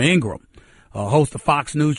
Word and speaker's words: Ingraham: ingram hosts on fox's laura ingram not ingraham i apologize again for mispronouncing her name it's laura ingraham uh host of fox